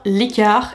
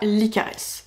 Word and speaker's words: Licares: la formation licard et on dit bien l'car et pas l'icaress s'il vous plaît on arrête de faire des fautes en prononciation ne faites pas comme moi l'car c'est une formation pour